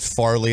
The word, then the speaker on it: Fairleigh: Fairleigh Dickinson, they call it Fairleigh. I grew up right down the street from there. We always called it Farley. I don't know why everybody calls it Fair. It's spelled Fairleigh. I don't know why we pronounce it Farley, but I say Fairleigh Dickinson.